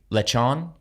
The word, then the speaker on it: lechon: And then the second video that beat the dog walker was lechon. How do they pronounce it?